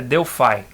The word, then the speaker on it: Delphi: E ele usava essa linguagem chamada Object Pascal, mas popularmente era conhecida como Delphi, sendo que o nome correto, a pronúncia correta, é Delphi.